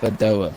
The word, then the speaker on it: Badoer: Pronounce What's his it. name, Clock? Luca Badoer. Badoa. Oh yeah, Bedoa.